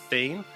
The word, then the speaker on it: Thane: His name is Thane, spelled like it sounds.